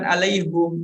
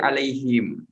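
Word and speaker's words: عليهم: ditambah didahului dengan ala bacanya bukan alaihum tapi alaihim tetapi Nanti kalau kita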